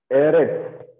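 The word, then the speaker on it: אֶרֶץ: Eretz, okay, Eretz. This is Sade, okay. This is final Sade. So the sound is like TS sound.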